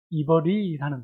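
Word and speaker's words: עברי: 이 히브리라는 단어는 히브리 원어의 발음으로 보면 이버리라는 단어예요.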